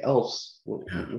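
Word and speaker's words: ELFS: that we use is elves. Oh, yeah. So elves, it's not the little elves that are in the North Pole, but they're elves. It's spelled E-L-F-S.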